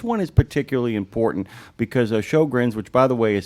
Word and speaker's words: Sjögren: This one is particularly important because Shogrins, which by the way is spelled SJ O G RN, uh Shogrin's disease,